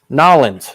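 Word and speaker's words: Nawleans: mountain dew i do so i have two nollins that's right n-a-w-l-e-a-n-s that's how they pronounce it down in louisiana all right and there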